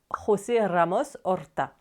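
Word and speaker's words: José Ramos-Horta: Le président actuel s'appelle d'ailleurs José Ramos Orta. Et si ça sonne un peu portugais d'ailleurs, je l'ai prononcé à l'espagnol, pas forcément à la portugaise.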